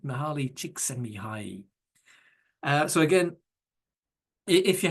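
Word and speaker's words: Csikszentmihalyi: off saying his name this is how I do it is mahali chicki that's how you say it Mahal chicki uh so again if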